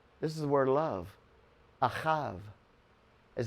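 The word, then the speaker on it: אהב: in the middle this is the word love ahav is how you pronounce it so father who is the bull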